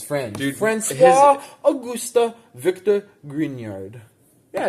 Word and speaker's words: Grignard: That's Grignard. Grignard, I think is how you say it. It's Grignard. No, it's fucking Grignard. Because it's a French name. He's French. Dude, Francois Auguste Victor Grignard.